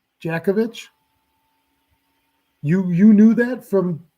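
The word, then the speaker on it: Dziekiewicz: that's funny Jason so your last name is spelled d-z-i-k-i-e-w-i-c-z but it's pronounced Djokovic jakovich you you knew that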